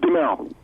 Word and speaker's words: Duhamel: We welcome him back the second time to Animal Radio Airwaves, Josh Duhamel. Hey, Josh, how are you doing? Hey, it's Duhamel.